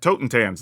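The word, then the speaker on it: Totentanz: We're also going to be trying out Song of Tortentans. I don't know, how do you say that? Totentans, there you go.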